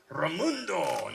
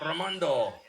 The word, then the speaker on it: Ramundo: in play gaston ramundo i was corrected on the pronunciation of ramundo not romando what do i know